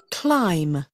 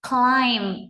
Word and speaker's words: climb: Climb, từ này tránh trường hợp đọc là climb các bạn nhé. Ở đây thì âm k, k, k, k. Cl, mình cần phải đọc liền hơn, liền mạch ra nào.